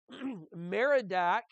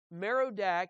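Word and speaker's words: Merodach: veiled b-a-a-l also okay meridak is broken in pieces her idols are confounded her images are broken in pieces here merodak is also marduk on the handout is spelled m-a-r-d-u-k and it's the same thing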